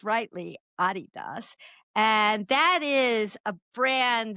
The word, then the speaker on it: Adidas: So you're talking about the famous company Adidas, although a lot of people here say Adidas, but I believe it's pronounced rightly Adidas.